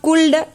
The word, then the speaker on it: could: It is not could, L is silent here, could.